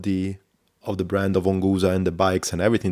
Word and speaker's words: Onguza: right at the beginning onua uh is written the way you pronounce it which is part of